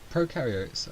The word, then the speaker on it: prokaryotes: You can remember this quite easily by thinking about pro in prokaryotes rhyming with no, as in pro have no nucleus.